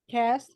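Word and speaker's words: caste: Rebirth of the cast cast Okay the E is silent so it's the same thing as cast with the with the c okay and and sister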